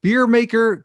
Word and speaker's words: BEERMKR: show joining us is the beer maker co-founder and ceo aaron walls and it's spelled b-e-e-r-m-k-r thanks for joining us